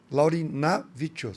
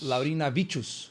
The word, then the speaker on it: Laurindvicius: alguma coisa na verdade a pronúncia é laurin navos porque eu vi laurin laurin vichos laurin vichos é laurin vichos elegante demais viu combina